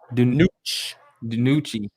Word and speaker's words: DiNucci: DiNucci.